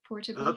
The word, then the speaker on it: Portavogie: Johnston is an educator, writer, broadcaster, and international speaker, originally from Portavogie. Is that the right pronunciation? Portavogie?